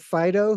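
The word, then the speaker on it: Phideaux: really come from me there's an artist called Fido who is a Prague artist that I work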